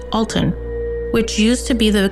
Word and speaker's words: Alton: Alton pronounced A W L T U N.